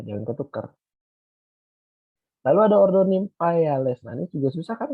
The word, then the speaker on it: Nymphaeales: Lalu ada ordo Nymphaeales. Nah, ini juga susah kan kalau kamu bacanya tadi gitu ya, Nymphaea ya. E-nya dibaca kayak iya aja, jadi dilewatin Nymphaeales.